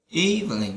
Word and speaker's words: evening: Đầu tiên là good, afternoon, night, nice, evening, evening. Các bạn nhớ trọng âm là âm đầu tiên nhé.